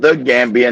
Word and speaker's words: The Gambia: They saying it's called the Gambia, not Gambia. It's the same country. They're saying that you're pronouncing it wrong.